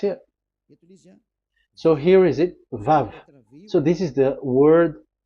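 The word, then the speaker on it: וָו: We called it as Vav. Vav. Your claw, your mouth is like closed. Vav. So it's V as in Vogue.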